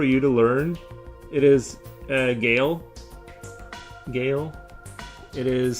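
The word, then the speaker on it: Guile: It's pronounced more like it's more pronounced like Gale.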